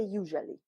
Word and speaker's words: usually: we do in English so remember that if it's silent it's not there so we say usually good and this one